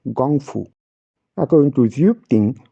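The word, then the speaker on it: gōngfu: two Chinese characters and you have been calling it as Kung Fu only problem is there is no such term in Chinese language according to Mandarin pin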